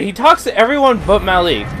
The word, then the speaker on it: Malik: He talks to everyone but Malik. It's interesting. Malik, I mean. Ugh. I keep wanting to say Malik, but it's Malik.